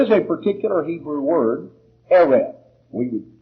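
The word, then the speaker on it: ערב: translations but there is a particular hebrew word eret we would spell it out e-r-e-v that's close enough which means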